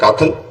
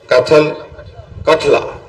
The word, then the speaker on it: कठला: से क्या नाम है, काथल, क्या नाम ये कौन सा स्कूल है? अच्छा नहीं, स्कूल का नाम कठला। अच्छा, जो स्पेलिंग गलती लिखी ना, इसको ठीक करना चाहिए।